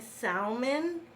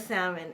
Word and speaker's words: salmon: It's like for like 21 years, I was saying salmon instead of salmon, and no one freaking corrected me.